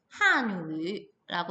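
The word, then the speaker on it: 汉语: 이 단어를 보고서는 저거 어디서 되게 많이 봤는데 라는 생각이 들어야 되는데 얘는 중국어로 한유라고 읽고요.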